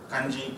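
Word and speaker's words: congee: So when I saw this kanji coming, they spell it C-O-N-G-E-E, but it's exactly similar to the kanji, the K and J-I, how it's spelled here.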